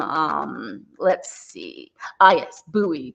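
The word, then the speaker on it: Bowie: let's see a yes buoy to rhyme with Huey so David buoy Huey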